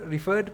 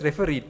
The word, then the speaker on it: refereed: the people who read I have heard some people pronouncing this incorrect not refer referred papers refereed papers refere that means some referee